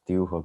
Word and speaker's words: Dürer: And this is a German, so I have to pronounce his name in German. Well, we have Dürer next.